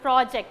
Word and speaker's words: project: project p-r-o-j-e-c-t project okay if the stress falls on the first syllable pro that is per okay project okay if you are giving stress for the first syllable project then it's a noun if we are giving